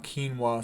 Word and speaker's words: quinoa: Rice, quinoa, keenwa, some people pronounce it like that.